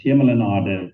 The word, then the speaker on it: Hemel en Aarde: We're looking at the Emil and Arden Valley. Did I pronounce that correctly? Very close. Hemel en Aarde means heaven and earth in Afrikaans and Old Dutch.